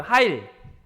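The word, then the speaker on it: חַיִל: 하일 하일 하힐 네. 여러분 힐 씻고 다니잖아요. 그 비슷한 하일이라고 써 있는데 어 하힐과 하 그 중간 발음으로 발음하시면 돼요.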